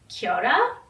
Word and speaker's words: Kiora: So basically a timeless wardrobe, and Kiora in my native language means time, and how you would actually say it in Chamorro is Kiora, but it's spelled K-I-O-R-A.